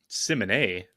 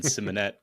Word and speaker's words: Simonet: Simonet? That's how it's pronounced in France, I assume. Well, got more French. This is the American pronunciation, Simonet.